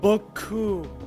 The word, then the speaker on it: boku: Your O should be very deep, that's how they pronounce it. Boku.